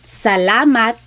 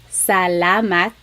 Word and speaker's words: salamat: So the letter A, ah, ah, ah. Not ah and not ah, just ah, ah. So let's practice saying salamat, salamat, salamat. It's not salamat and it's not salamat.